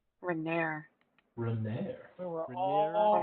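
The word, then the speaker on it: Renaer: The pronunciation of his name is Renair. Renair.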